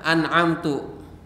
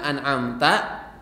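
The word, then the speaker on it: أنعمتَ: lalu yang ketiga an'amta dia berbaca dengan an'amtu ihdinasirathal mustaqim shathalladzina an'amtu dia salah harusnya an'amta alaihim bahkan iniur Muin batal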